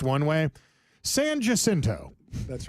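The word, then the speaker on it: San Jacinto: Sanjinto. That's right. That's right. You sure it's not San Hasinto? No, that's Saninto right there. It's got a J in it, Lane.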